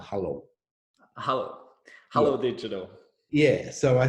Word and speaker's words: Hullo: So now you have started your own agency called Hullo. How do you pronounce it? Hello. Hullo. Hello.